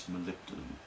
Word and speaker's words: molybdenum: No one can ever pronounce it. They call it molly-what. Well, it's molybdenum.